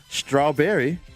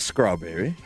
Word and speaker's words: strawberry: But it's street, not screet. And I know you've heard that. It's strawberry, not scrawberry. It's stripper, not scripper.